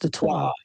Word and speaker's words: Detroit: Because even like Detroit technically is French and it's supposed to be pronounced Detroit, but we say Detroit, so it's not really pronounced right.